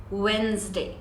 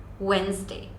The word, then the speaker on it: Wednesday: it's not vness day it's neither wenesday it's Wednesday Wednesday it's Thursday you don't have to pronounce the T in the end it's just